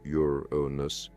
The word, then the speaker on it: Uranus: to endure astronomers subsequently designated it Uranus pronounced yonus in honor of the